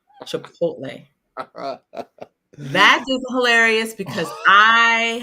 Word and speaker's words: Chipotle: because I've heard this why does everyone over the age of 40 pronounce Chipotle chipot instead of Chipotle that is hilarious because